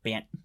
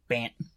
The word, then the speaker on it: Bant: Bant Eldrazi, because if you say it fast enough, Bant. Well, it also depends. Bant. It also depends on enunciation too. So Bant. This is me saying Bant. I don't pronounce my T's very harsh, so Bant.